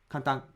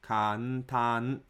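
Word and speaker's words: 簡単: Kantan has 4 moras. Foreign learners often pronounce the syllable kan as 1 mora instead of 2. Therefore, it sounds too fast to Japanese ears. Many foreigners say kantan like kantan instead of saying kantan, ka-n-tan, ka 1 mora, 1 mora, ta 1 mora, 1 mora.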